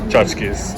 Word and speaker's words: tchotchkes: Tchotchkes.